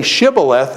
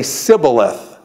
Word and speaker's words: shibboleth: So what I'm saying is when they cross here, he says, say Shibboleth, and they say Sibboleth.